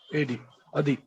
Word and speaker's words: Adi: Adi. ADI. Adi. It's Adi. Pronunciation is Adi, sir.